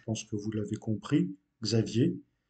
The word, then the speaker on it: Xavier: que vous l'avez compris, Xavier. Mais en portugais, ce nom se prononce Xavier.